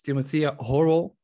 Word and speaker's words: Timothea Horwell: So as you've heard in my introduction today, I'm joined with Orion Protocol, and it's Timothea Horwell. Am I saying it correctly?